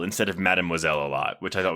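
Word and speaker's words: Mademoiselle: I'm so glad that you pronounced that, but I I say Memoiselle instead of Madmoiselle a lot, which I thought was really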